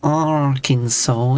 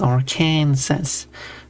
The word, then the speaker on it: Arkansas: And while covering pronunciation, there's like when some people are saying like people like, well, it is actually pronounced Arkansas. It's not pronounced Arkansas. But then people then go on and say, Melbourne.